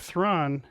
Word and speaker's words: Thrawn: In that instance, it was Khan. In this instance, it's Thrawn. Rhyme. Right, exactly. The Wrath of Thrawn. It rhymes. It's poetry.